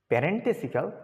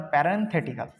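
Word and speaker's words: parenthetical: Indicates a sudden break in thoughts or sets of প্যারেন্টেসিক্যাল, আচ্ছা প্যারেন্টেসিক্যাল information. প্যারেন্টেসিক্যাল মানে বন্ধনী আবদ্ধ, প্যারেন্টেসিক্যাল এখানে ব্যবহৃত, এই যে প্যারেন্থেটিক্যাল, উচ্চারণটা প্যারেন্থেটিক্যাল মানে বন্ধনী আবদ্ধ, বন্ধনী আবদ্ধ, বুঝলে?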